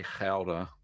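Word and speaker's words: Gouda: gelder will be first or as i as the dutch say howder i just pronounce the g sometimes uh i know it's not interchangeable but it's powder um yeah no problems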